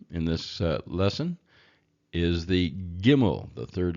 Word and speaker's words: gimmel: But the word camel, of course, starts with C, and this is a G sound. So if you can think of it as a gamel or a gamal, then you can still get the G out of it.